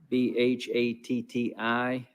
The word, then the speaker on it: Bhatti: out but just be patient with me dr b-h-a-t-t-i carefree medical lansing michigan are you with us